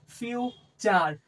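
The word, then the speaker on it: future: ইউ থাকে যেকোন ক্ষেত্রে টি এর পরে যদি ইউ থাকে তাহলে আমরা চার চার চ উচ্চারণ করি টিটাকে।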